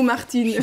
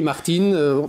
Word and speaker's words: Martin: on dit Martin ou Martine? Je m'attendais à cette question dès le début, mais au moins on dit Martin. En réalité on dit Martin, puisque les Anglais ne prononcent pas le R.